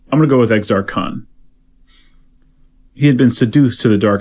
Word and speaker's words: Exar Kun: long time ago, and the guy who read it, I remember this, pronounced it Exar Kun. It's E-X-A-R-K-U-N. Kun. I think it's Exar Kun, but he said Kun. Exar Kun. So, I don't know, you tell me what you like better.